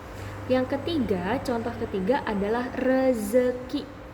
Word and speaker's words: rezeki: Yang ketiga, contoh ketiga adalah rezeki. Karena rezeki menggunakan huruf Z, maka kita pun harus membacanya menggunakan huruf Z. Rezeki, bukan rejeki.